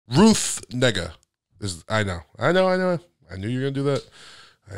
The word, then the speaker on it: Negga: It's Negga. N-E-G-G-A.